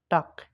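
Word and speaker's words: Tag: হয় যেমন দেখেন গাবেন কিন্তু এই গেটা যখন শেষে বসে এই গেটা আর গেয়ের মতন উচ্চারণ হয় না এটা কর মতন উচ্চারণ হয় যেমন দেখেন টাক এখানে সবার শেষে গেল কারণে এই গেটা ক মতন উচ্চারণ হয়েছে এখন দেখব এইচ এইচ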